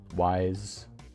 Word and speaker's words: Weiss: is now the leader of Weiss vice wise vice everyone to pronounce it lots of different ways go through the cutscene